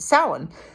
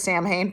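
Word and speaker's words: Samhain: hay s m ha a i n is pronounced Sal but when I've started studying um pagan philosophy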